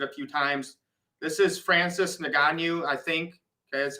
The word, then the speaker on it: Francis Ngannou: This is Francis Ngannou, I think.